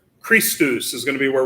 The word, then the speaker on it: Christus: as mud got it the next time we see the letter c is going to be in front of the letter h that's also going to be kind of a hard k sound as in the word ache christus is going to